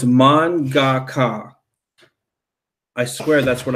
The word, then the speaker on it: manga: pronounce it was horrific it's actually pronounced more like Mon like Mon Calamari kilowatt and then God